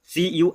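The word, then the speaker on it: sure: यू आर ई आया तो इसको पढ़ेंगे प्योर, सी यू आर ई पढ़ेंगे दोस्तों क्योर, एस यू आर ई पढ़ेंगे स्यो।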